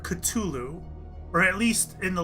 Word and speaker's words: Cthulhu: tongue and instead you should pronounce it either Kalulu or Cthulhu and he preferred Cthulhu or at least in